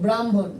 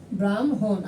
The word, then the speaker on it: ব্রাহ্মণ: এই বর্ণ থাকলে আগে ম তারপরে হ উচ্চারণ করব, ঠিক আছে?